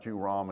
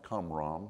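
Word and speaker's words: Qumran: into these caves and it's not kuram it's cam excuse me I saying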